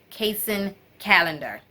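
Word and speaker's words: Kacen Callender: butchering the names but I believe his name is pronounced casein calendar okay and author is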